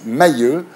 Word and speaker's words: Mahieux: Mahieu bonsoir bonsoir je prononce Mailleux pour que les téléspectateurs